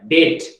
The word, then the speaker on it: debt: हाँ बेटा, हाँ बी साइलेंट होता है बेटा, डेट। लेकिन सर बहुत सारे लोग तो डेप्थ पढ़ते हैं। डेप्थ पढ़ गलत पढ़ते हैं यार, लेकिन आप तो कम से कम सही करो।